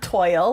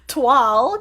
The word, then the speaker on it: toile: and lo and behold it's not toil like I was pronouncing it it's pronounced 12:00 and